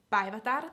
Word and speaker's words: Päivätär: So I'll teach you how to say Päivätär, that name. Päivätär, so it's päivä, so like day. Päivä means day. So that's how you pronounce it.